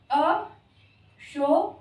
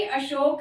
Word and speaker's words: अशोक: करें कि ये भी अशोक है और ये इंग्लिश की स्पेलिंग के साथ अशोक है। ये भी अशोक, ये भी अशोक, इसको अशोका ना बोले, बस यही कहना है।